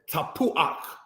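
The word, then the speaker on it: tapuach: the patak first before you pronounce the ket. This is where you get words such as tapuak, apple, ruach, spirit, mafteak, key.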